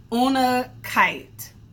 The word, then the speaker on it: unakite: And I looked up how to pronounce exactly what this stone is. It's called, I feel like I forgot, unakite.